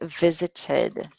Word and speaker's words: visited: And we have visited with an id sound.